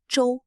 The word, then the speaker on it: 州: Today, we learn the Chinese characters Zhou Zhou. Both characters are pronounced Zhou, but they have different meanings and are used in different types of words.